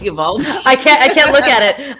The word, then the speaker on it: Uvalde: I like And how you try to pronounce it the correct way. oh, And like sorry, nobody in Texas would ever. It's Uvalde.